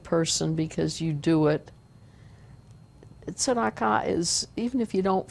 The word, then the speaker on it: tzedakah: We say, I'm giving tzedakah. Tzedakah, Hebrew pronunciation, otherwise I think it's Yiddish, tzedakah.